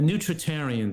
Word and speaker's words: nutritarian: what is the name this how do you pronounce the name of your the specific diet that you kind of follow a nutritarian diet nutr and this is the first time